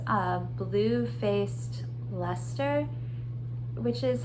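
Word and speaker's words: Leicester: okay it's a bluefaced luster which is how I've heard this uh sheet brand or this uh type of sheet pronounced uh Lester and that's of course not how it's spelled um I'm not going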